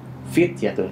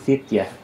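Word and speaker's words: فتية: Innahum fityatun. Itu baru jelas mimnya. Innahum fityatun. Tidak dibaca innahum fityah atau tidak dibaca innahum fityah.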